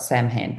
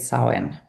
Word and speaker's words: Samhain: It's spelled Sam Han, but it said sin.